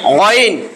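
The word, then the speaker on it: غ: আইন জবর আ, আ, আ, এটা ওয়াইন, গাইন না, এটা হবে গইন, গইন, গইন, হ্যাঁ গাইন না, গইন, গাইরিল না, গাইরিল মকদুব না, গইরিল, গইরিল মকদুব।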